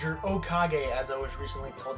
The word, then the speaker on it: Okage: Now, Okage, or Okage as I was recently told that's how you pronounce it, was actually one of my very first turn-based RPGs.